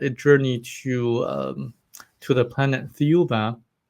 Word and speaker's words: Thiaoouba: And they start a journey to the planet Thiaoouba, which is also pronounced as Jehovah in French, Mm, is similar to the pronunciation of Jehovah, which does have a connection to the planet, the people on the planet.